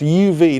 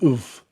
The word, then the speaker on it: UV: It's pronounced UV, not an oof.